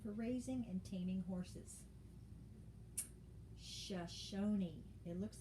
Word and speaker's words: Shoshone: indian tribe known for raising and taming horses shashoni it looks like shoshone but it is pronounced shoshone lists three ways that sacagawea helps